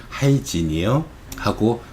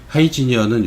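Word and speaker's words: Hygieia: 하이지니어하고 페노시아라는 것을, 하이지니어는 요 뒤에 나온 하이진, 즉 위생과 발음 비슷하죠.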